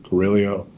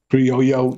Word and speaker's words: Criollo: Binder is Nicaraguan Carrillo. I'm saying that wrong. I always say it wrong. Criollo 98.